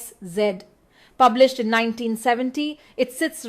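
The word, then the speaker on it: S/Z: Let's decode one of Roland Bart's most famous works, Sed pronounced Szed.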